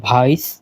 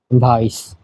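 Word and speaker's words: weiß: colour যেটা হলো এটা হচ্ছে বলে ভাইস আমরা জানি ভের এটা উচ্চারণ হয় এর মতো এবং এই সেট এটা তো আমরা জানি যে ডাবল এস এমন তো সাদার ডয়জ হলো ভাইস হুম পাশে দিয়ে বাংলা লিখে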